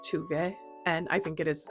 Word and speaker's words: Tove: It's spelled Tove, but it's pronounced Tuve.